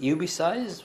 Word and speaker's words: Ubeesize: the box and uh the pronunciation should be ubisized but if that's not the